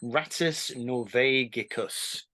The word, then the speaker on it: Rattus Norvegicus: It's Rattus Norvegicus.